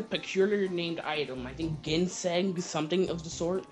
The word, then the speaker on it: ginseng: It's ginseng. You know, like gin. You know what gin is? Ginseng.